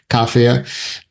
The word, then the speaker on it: kafir: First first is how to correctly pronounce kafir. Well, we're doing our best. Uh, I think we can choose. Yeah, it's perfectly reasonable to say kafia and uh plural can also be kafias or whatever makes sense.